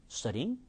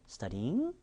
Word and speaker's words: studying: 그런데 이렇게 꺾임이 있다는 것만 알게 되면 음절이 studying이 아니라 studying. 그리고 음절도 보세요. 나중에 배우겠지만요. studying이 아니라 studying입니다.